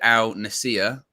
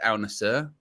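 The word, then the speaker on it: Al Nassr: I said Al Nasir. I was corrected Al Nasir.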